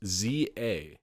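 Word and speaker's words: Z-A: they always like pronounce these it's a it's pronounced Za according to is it this one can't really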